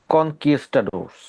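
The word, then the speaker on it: conquistador: দেন আসেন next vocabulary, কনকিস্টাডোরস। কনকিস্টাডোর এরকম উচ্চারণটা হওয়ার কথা।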